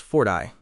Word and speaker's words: forte: You likely meant forte, pronounced fort-eye, which means your strong point or something you are good at, or simply passion.